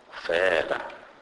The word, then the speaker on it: fela: The letter F is pronounced as and it is pronounced exactly like the F in the word far. For example, fela, which means only.